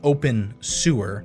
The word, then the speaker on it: Obenseuer: further Ado video games Oben sewer lovingly pronounced open sewer is a life simulator